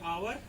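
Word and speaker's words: hour: लगाया हुआ है क्योंकि आवर, एच यहाँ पर साइलेंट माना जाएगा, इसे हम पढ़ेंगे आवर।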